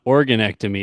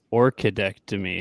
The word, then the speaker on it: Orchidectomy: And let's this is not Organectomy, it's Orchidectomy.